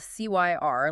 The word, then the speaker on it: Cyr: And just a quick note on that name for our listeners, it's spelled C-Y-R, like the name Cyr, but they pronounce it Cyr.